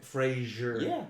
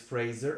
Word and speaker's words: Fraser: pronounced differently it's funny a lot of people said Frasier but I saw him in an interview and he said it's Fraser and he doesn't know why people really oh that's he there's no age there but everybody says Frasier and he doesn't get it but yeah I've only